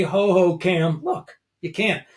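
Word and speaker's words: Hohokam: And Phil, Ho-Ho-Cam Park. I'm pronouncing that correctly, right? Ho-Ho-Cam.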